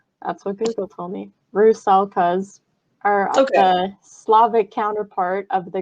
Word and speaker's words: rusalka: western europe the rusalkas i looked up the pronunciation of that that's what google told me rue salkas our slavic counterpart of the greek sirens um